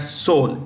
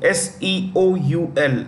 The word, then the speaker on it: Seoul: you see here that Seoul s-e-o-u-l the capital of South Korea Seoul the E is silent yeah so it's North